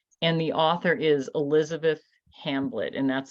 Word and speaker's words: Hamblet: And the author is Elizabeth Hamblett, and that's spelled Hamblet.